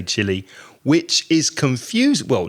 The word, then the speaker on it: Chile: So the pronunciation that most native speakers would say sounds very similar to that word.